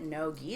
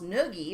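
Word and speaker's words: no-gi: some jiu jitsu books and the way that no g is spelled is n-o-g-i so when you look at it it just spells noogie or no noogie so i'm like what is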